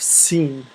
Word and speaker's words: س: and then we have scene scene I prefer it like this scene it's s so seene a straight line and then have half a circle that's scene it's really simple half